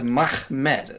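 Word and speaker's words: מחמד: The first letter is a mem, and the second letter is a mem. Last letter is a dalet, so you just pronounce those letters Mahmed.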